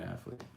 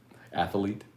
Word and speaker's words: athlete: of geordi colada show they're only two syllables an athlete athlete uh my boy uh